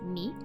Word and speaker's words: 見: word means to see the first kanji is pronounced meet and the second character is the hiragana for